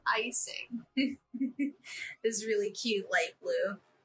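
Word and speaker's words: Eyecing: Next up, we have Icing, and it's spelled E-Y-E-CING. So Icing.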